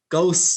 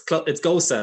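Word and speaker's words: Gose: Is it goose, goes, what is it? And your response was that it's Gosa, like the surname rhymes with the surname of the German footballer Miroslav Klose, and that was it basically.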